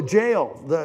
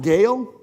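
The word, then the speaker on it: Gaol: Here we go, the jail. Is it pronounced Gale? Jail. It is pronounced jail, even though it's spelled like, okay.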